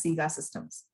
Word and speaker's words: SIGA Systems: If there is a pilot project which is coming to SIGA Systems, I see your name as SIGA Systems. Did I pronounce it right?